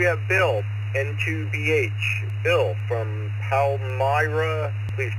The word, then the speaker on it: Palmyra: Bill from Palmyra, please correct my pronunciation.